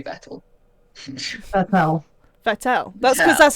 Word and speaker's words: Vettel: Vettel. That's because that's how it Vettel. is. That's how it's pronounced. It's Vettel. No, it's Vettel. Vettel. It's with an F.